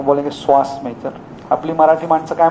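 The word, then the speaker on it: psoas: तो सुहास आणि सॉस यांना दोघांना कंपेअर केलं, एकत्र केलं, श्वास मेजर मसल.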